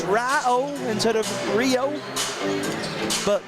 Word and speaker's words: Rio: I mean absolutely just a simple message it's R oh and head of Rio but then again if it's if it's spelled out in message you're still reading the